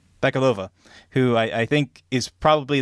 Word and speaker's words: Bakalova: I think this is a really, really touching performance, and that's no disrespect to Maria Bakalova, or how you pronounce her last name? Maria Bakalova. Bakalova, who I think is probably the most memorable